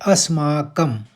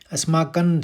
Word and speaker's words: अस्माकम: भावार्थ भी समझेंगे तो पहला शब्द है अस्माकम अस्माकन शब्द नहीं होगा क्योंकि वो केवल बोलने के लिए यानी उच्चारण में आएगा न लेकिन शब्द होता है संस्कृत में अस्माकम यानी हमारे पक्ष में